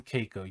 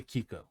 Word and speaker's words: Keiko: like watching it's like saying Keiko you don't say Kiko no it's literally that's